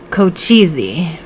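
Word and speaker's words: Cochise: their first single together kochizi i say it like that like go cheesy i didn't even know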